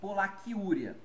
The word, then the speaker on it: polaciúria: la furia ou polaciuria tá pronúncia inclusive é igual polaquiúria eu posso escrever nessas